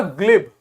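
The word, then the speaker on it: glib: लेकिन जहां पर जी की जगह पे प्रोनाउंसिएशन में भी जी बनेगा वहां पे इसे गा बोलते हैं, तो ये हो जाएगा ग्लिब।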